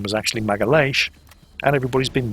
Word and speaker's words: Magalhães: that today bears his name, the Straits of Magellan. Something that's been pissing the Portuguese off ever since, because his name was actually Magalhães, and everybody's been mispronouncing both him and the straits that he discovered ever since.